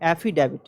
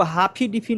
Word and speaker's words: affidavit: Spelling देखिए, AFFIDAVIT, यानी एफिडेविट होता है, एफिडेविट। ठीक है, इसको हाफिडिफी नहीं बोल देना है, इसको एफिडेविट कहते हैं।